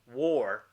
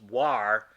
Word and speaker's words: war: pronounce it incorrectly because if you use the word the rules of the English language like far-right this is a consonant followed by the letter a followed by another constant exactly the same way this this word is but here it's pronounced far right so this should be war not war this should actually be pronounced war based on the rules of the English